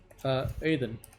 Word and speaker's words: Aiden: Think of it as AIDN, like the Aiden.